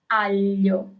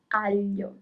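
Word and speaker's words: aglio: So the second word is alo alo garlic. Alio rabbit is So here you have gl i at the end.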